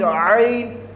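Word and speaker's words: ع: Now this one is Ain, and this one is Ghain, not Gain. This one is Ain. My dear students, you have to pronounce Ain like that, Ain, from middle of the throat.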